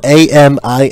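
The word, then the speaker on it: Aminatou: It's spelled A-M-I-N-A-T-O-U.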